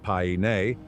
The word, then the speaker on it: Paine: Torres means towers, and Paine, pronounced Paine, is the native word for blue, the Blue Towers.